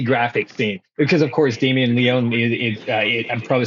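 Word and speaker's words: Damien Leone: that's a really graphic scene because of course Damen Leon I'm probably saying his name wrong is is No, you're doing it right, dude.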